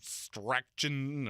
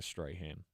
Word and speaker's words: Strachan: a straight hand um there's a c in it so it's either Strachan or Strachan uh if you want to be straight hand take the C out spell your name right if you want me to pronounce it that way uh but I did